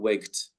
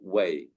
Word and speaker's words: weigh: And some people mispronounce this word. It is not waked, it is wait or weigh.